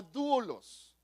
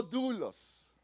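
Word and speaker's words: δοῦλος: en en el griego original es la palabra dulos di conmigo dulos como si fuera doble o así más o menos se pronuncia y quiere decir que es un esclavo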